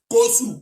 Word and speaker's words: Kossou: Kossou, comme je prononce là.